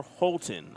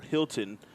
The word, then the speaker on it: Holton: Carter Holton I've been calling him Carter Hilton for the past two nights and I was corrected so I apologized to that young man for getting his name wrong but me mispronouncing his